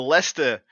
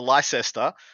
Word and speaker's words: Leicester: What's the first beautiful event for you guys is the Leicester GT. As I'm heard, it's called. It's not the Leicester, as it would be phonetically.